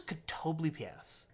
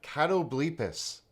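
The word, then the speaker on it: Catoblepas: to Matt Mercer yes I thought it was could tow bleep es I have pronounced it I think different every time I've said it but apparently according to D&D beyond cattle bleep as' is the appropriate pronunciation however you want to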